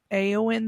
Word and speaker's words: Eowyn: You can either search Aowen the Boxer, and Aowen is spelled EOWYN.